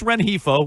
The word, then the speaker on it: Rengifo: Then he walks Rengifo with the bases loaded. Ooh, good pronunciation on Rengifo, Joe.